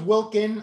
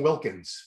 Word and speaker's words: Wilkin: name wrong brett wilkin did you know it was wilkin i've been saying wilkins for the longest time wilkin wilkin were you